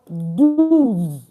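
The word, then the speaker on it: douze: 12 is pronounced as do.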